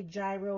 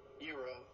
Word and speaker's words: gyro: I always say it wrong, so I always say gyro or gyro. So let's see how it's really pronounced. Euro.